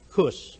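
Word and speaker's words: -cus: the sake of euphony making the full termination c-u-s pronounced with a hard seed cuss as amicus americanized its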